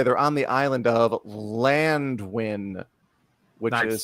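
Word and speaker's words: Llanddwyn: This, by the way, they're on the island of Llandwyn, which is spelled Landwyn, but with 2 L's and 2 D's in Wales.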